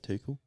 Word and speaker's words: Tuchel: Tuchel.